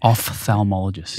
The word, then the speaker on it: ophthalmologist: But I know that your dad's an ophthalmologist. Mm-hmm. Is that how you pronounce it?